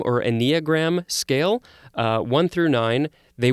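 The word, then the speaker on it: enneagram: the eight others on this i think it's pronounced eniogram or a neogram scale one through nine they went through all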